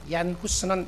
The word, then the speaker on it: 얀 후스: 눈을 감을 그 당시에 그 나라 발음으로 하면 얀 후스인데요. 얀 후스는 이야기하기를 프라 대학 교수였고 훗날 같은 대학의 총장까지 지냈던 사람이었는데, 후스는 가난한 농부의 집안에서 태어나게 됩니다.